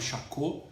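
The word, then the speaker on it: Charcot: estudar com um médico chamado champô se escreve chacote é francês e conheci médico ele aprende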